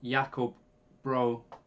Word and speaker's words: Jakob Bro: guitarist and jazz youtuber told me that i'm telling saying the name yakov bro wrong so sam is that actually how we said jakob bro i think is the danish pronunciation of his name maybe i know it's as close as i'm probably gonna get i think that's closer to how his name is actually said so it's probably worth